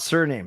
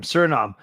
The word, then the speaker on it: Suriname: So not surname, Suriname. Okay, friends, we got Suriname. Good job. We are sneaking out. We're sweating here. So 3 neighbors of Suriname.